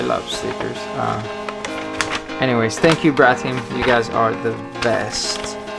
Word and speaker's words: Vratim: So, Vratim, we pronounce it like that.